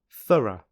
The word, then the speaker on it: thorough: which rhymes with true thorough which rhymes with butter and finally hiccup which